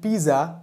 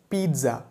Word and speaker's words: pizza: Back then, people around me used to call it pizza and I just copied them. But the right pronunciation of this word is pizza.